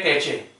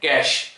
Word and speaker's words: cache: और चलिए सबसे पहले होता है आपका रजिस्टर्स, रजिस्टर के बाद कैश, लिखा क्या है कैचे, CACHE, पर पढ़ते क्या है कैश, इसका उच्चारण क्या होगा कैश, ठीक है।